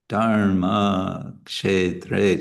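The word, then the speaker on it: dharmakṣetre: So it becomes dharma. And the same is true for the next syllable, dharma, dharma, kshetra. So we have actually 4 long syllables here because a is always long.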